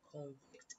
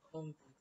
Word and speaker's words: convict: to change in meaning you can have what's like convict and convict kind of words if you stress in the first syllable it may mean a different thing when you stress the second syllable it also means a